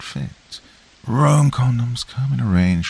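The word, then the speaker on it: Roem: Rome, that's spelled R-O-E-M, not like the city, have an innovative range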